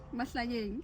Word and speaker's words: Mahlanyeng: Mahlanyeng.